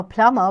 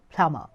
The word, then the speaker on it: plumber: say it a a plumber because the B is silent in this okay then spelling is plumber but we say call it plumber p l u m